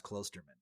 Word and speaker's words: Klosterman: Yeah, I should probably tell you my name is actually pronounced Klosterman. Oh, apologies. Chuck Klosterman. But I hate telling people that because there's no umlaut over it.